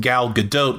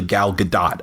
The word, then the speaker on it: Gal Gadot: that's where you discuss the pron the correct pronunciation of people have got it wrong with gal GDOT when it's actually galgadot I got it yeah clearly you have yet